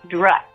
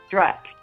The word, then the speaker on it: Druck: Druck, like a truck, Druck.